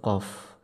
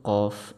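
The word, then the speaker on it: ق: Terus untuk huruf qaf itu tidak boleh keluar angin.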